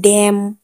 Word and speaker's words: damn: N silent कब होता है? किसी भी वर्ड में M और N दोनों साथ में आए तो M और N में N साइलेंट होता है। इसका एग्जाम्पल जैसे ऑटम, AUTUMN, ऑटम, डैम, DAMN, डैम, दोनों साथ में हो तो हम N को उच्चारण नहीं करेंगे।